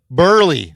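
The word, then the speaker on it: Buehrle: This is Mark Burley. Burley. That's right. Okay. Stud pitcher. Okay. Mark Burley. Sorry. You get that U and the E.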